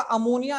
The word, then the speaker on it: ammine: NH3 आएगा, अमोनिया आएगा, तो उसको लिखा जाएगा अमीन।